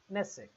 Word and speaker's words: Knesset: Knesset. Knesset. K is silent here.